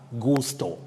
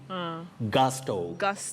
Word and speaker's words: gusto: should be pronounced yeah letter u takes the mid central sound ah what is represented in the phonetic transcription with the inverted v gasto gasto not gusto and